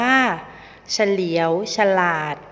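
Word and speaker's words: เฉลียวฉลาด: อ่าน ว่า สว่าง และ เฉลียว ฉลาด อ่าน ว่า เฉลียว ฉลาด ทะเหล ทะไหล อ่าน ว่า ทะเหล ทะไหล อเรด อร่อย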